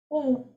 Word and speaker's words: aux: How to pronounce AUX? O. Please. Only A and accent is A. AUX is O.